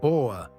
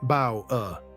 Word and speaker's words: Bauer: How you say it, not Bauer, the English way. In German it's Bauer, rhymes with power.